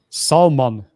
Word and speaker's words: Salman: you write his name Salman s a l m a n like s like s man yes yeah to pronounce it American I'm losing my voice soul man yeah but anyways that's